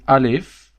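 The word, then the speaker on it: ألف: This is alif. Yes. Very simple. It's like I in English, but without the point.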